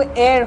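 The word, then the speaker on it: heir: मर्द है तो एयर होगा, हियर मत बोलना, इसका प्रोनाउंसिएशन एयर होता है।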